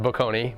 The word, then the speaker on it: Boccone: Last name is pronounced Boccone, but anything close is fine.